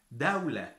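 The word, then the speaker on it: دولة: Dawla. So dawla is country, and you pronounce the dal the same way as you pronounce the d, dawla.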